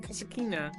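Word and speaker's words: Kasatkina: How do you pronounce her surname? Kasakina.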